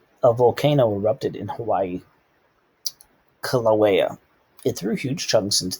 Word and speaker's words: Kilauea: Kilauea, I guess is how you pronounce that. A volcano erupted in Hawaii. Kilauea.